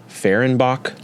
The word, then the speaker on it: Fehrenbach: at the camera yeah is your last name ferenbach that's my last name okay I was pronouncing it right I I hate getting in